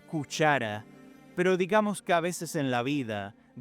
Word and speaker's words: Kusara: El primer pueblo relacionado con los hititas fue el reino de Kusara, y debo decir que la pronunciación correcta de la palabra es cuchara, pero digamos que a veces en la vida debemos cometer errores en nombre de un bien mayor.